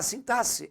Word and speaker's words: sintaxe: a pronúncia u gente não é sintaxe igual muita gente fala não é sintae é o mesmo som de s tá outra coisa a sintase é a parte da